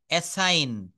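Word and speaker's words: assign: ডিজাইন তারপর বলছে এস এস আই জি এন এসাইন এসাইন মানে হচ্ছে বরাদ্দ করা নেক্সট হচ্ছে টি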